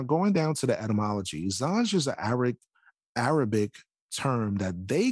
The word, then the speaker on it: Zanj: In Wikipedia, it mentions the Zanj dynasty, and Zanj is in our Arabic is pronounced as Zanji, Romanized Zangi, Turkish Zenchi, was a name used